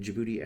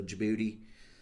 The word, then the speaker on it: Djibouti: from called and uh it starts with a D, but the uh the D silent. It's fun to say also Djibouti. People say it like that, too. kind of you get booty, you know, all kinds of sayings and stuff.